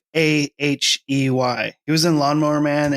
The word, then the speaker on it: Fahey: It's Fahey.